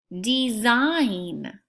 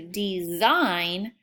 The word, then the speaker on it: design: up a piece of paper kneel number four design I cannot wait to design my latest artwork design and number five crumb